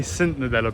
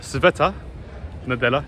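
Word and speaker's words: Света Неделя: I normally say Sint Nadella because in English it's Sint Nadella, but Sveta Nadella is the Bulgarian way to say it.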